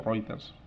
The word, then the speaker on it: Reuters: agencias especializadas del tipo Reuters, que conoceréis, o Reuters se pronuncia.